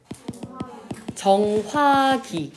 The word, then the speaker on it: 정확히: 정확히 이렇게 발음해요 안 해요? 안 하죠. 그래 얘는 정확히로만 발음이 되는 거예요.